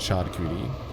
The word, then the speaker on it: charcuterie: It is pronounced charcuterie.